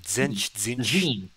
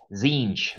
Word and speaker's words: Zinj: How do you pronounce that anyway? Zench? Zinj.